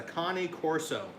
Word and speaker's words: Cane Corso: No, it's a Connie Corso.